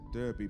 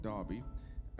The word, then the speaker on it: Derby: And really, really, and I sometimes think to myself, out of little old Derby, phonetically says Derby, but Derby, we have such a blessing, an anointed person.